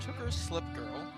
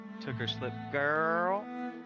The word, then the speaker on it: Tooker Slip Girl: So far, we have Tooker Slip Girl, which, You're pronouncing it wrong. oh? Yeah, it's took her slip girl.